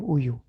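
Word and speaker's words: 우유: Let's join them, uyu. Join them. Speak together fast. Uyu, uyu, uyu.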